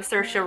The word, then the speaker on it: Saoirse: I really love Saoirse Ronan. Saoirse, that's how you say her name.